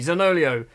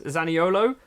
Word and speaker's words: Zaniolo: Zanolio, it's not how it's said at all, is it? Is Zaniolo, possibly.